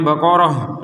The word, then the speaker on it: Baqarah: berhenti juga di sini pertanyaannya Kenapa kita membacanya Baqarah nah ini yang bulat seperti ini Kenapa dibaca ha ya karena kita berhenti kalau kita melanjutkan maka akan menjadi ta sebagaimana semula contoh yang pertamaahu baqor